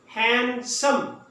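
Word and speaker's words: handsome: हैंडसम, हैंडसम। डी को silent कर दें, यहां पे डी बोलने में नहीं आएगा।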